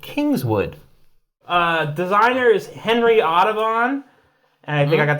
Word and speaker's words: Audubon: Designer is Henry Audubon, and I think I got that right.